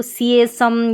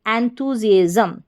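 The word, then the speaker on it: enthusiasm: इसको सिएसम या इस तरीके से ना पढ़े, जिएजम, SIASM, जिएजम। तो पूरी स्पेलिंग एंथुजिएजम, एंथुजिएजम।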